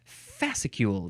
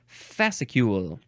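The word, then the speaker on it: fascicule: it is whoa ficu this is uh three syllables no it's fasule that's the way you got to emphasize the syllables fasule noun from 1880 uh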